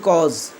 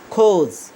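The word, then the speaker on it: cause: তাহলে carbon dioxide বৃদ্ধির যে প্রধান কারণ, এটার উচ্চারণ বলেছি খোঁজ, আমরা বলি কজ, হবে উচ্চারণ খোঁজ।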